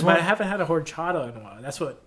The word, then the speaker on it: horchata: Horchata.